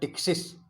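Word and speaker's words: पटिक्सिस: पहला प्रकार कहलाता है टिक्सिस, यहाँ पे पी साइलेंट रहेगा, टिक्सिस कहलाएगा। जैसे टेरिडोफाइटा में हम पी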